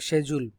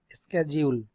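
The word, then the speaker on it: schedule: বলে ডিসেন্ট আরটাকে বলে সেজুল সেজুল অথবা আরেকটা স্পেলিং হল যে স্কেজিউল আমরা সাধারণতশিডিউল বলি বাটশিডিউল বলাটা ঠিক সঠিক উচ্চারণ হলো সেজুল সেজুল অথবা স্কেজিউল মান হল সময়সীমা ডেস্টিনেশন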